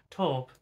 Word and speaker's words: taupe: eyeshadows like TP H TP taupe I never I never know how I pronounce that word without the sound too POS torp uh that's how I pronounce ounce it without sounding too Posh grayed purples lilac lavender